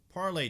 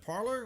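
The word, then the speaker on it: Parler: The French, I guess that would be the French pronunciation.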